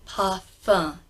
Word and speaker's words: parfum: written like this say path fun you don't have to roll the are that might come automatically if you are American speaking but if you speak received English like I do leave it alone ha ha no M